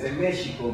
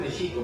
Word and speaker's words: México: Y los danzantes a veces dicen México, pero no, debe ser México, porque la pronunciación es grave todo, con algunas excepciones.